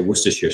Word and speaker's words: Worcestershire: nationalities particularly the Americans when they try to say Worcestershire sauce they seem to add about sort of four or five extra syllables in it sort of